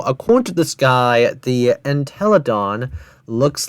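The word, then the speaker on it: Entelodon: But giant wildlife species was a familiar typical anteladin. With a large bulky body, slender legs, and long snout, anteladin had complete etheran detention. Also, it's pronounced as antelodon, not what of a brain rod that this guy conceived.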